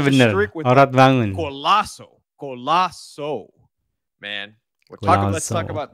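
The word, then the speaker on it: Oratmangoen: Ya, pengucapannya benar. Ortmangun.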